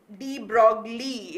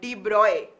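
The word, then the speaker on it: de Broglie: de bruy's hypothesis okay and yeah i mean d broccoli is how we learn to pronounce it right i also learned it the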